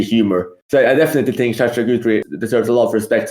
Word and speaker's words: Sacha Guitry: I will, however, let Chris go there for this time because he pronounced Sacha Guitry and Désiré quite right.